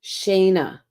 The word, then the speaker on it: Shanna: So it's pronounced Shayna.